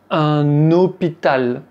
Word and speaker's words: hôpital: Et bien, avec les mots qui commencent par “h”, un “h muet”, Un_homme, un_hôtel. Un_hôpital. Vous voyez qu'on fait la liaison.